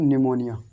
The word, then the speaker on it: pneumonia: इसको पढ़ेंगे हम निमोनिया, निमोनिया, निमोनिया, निमोनिया। क्योंकि ये P जो है, P हम नहीं पढ़ेंगे, क्योंकि P हमने अभी